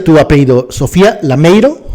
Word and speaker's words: Lameiro: ¿Cómo se pronuncia tu apellido? ¿Sofía Lameiro? Lameiro, sí.